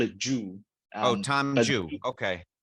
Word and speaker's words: Zhu: Zhu, right? In Chinese, I know it's quite difficult, but we can call it Zhu. Oh, Tom But Zhu. Okay. yeah, Tom Zhu That's the is more proper pronounced.